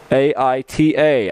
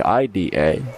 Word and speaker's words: Ida: right hander excuse me aita ida but pronounced like it would be ida after speaking to the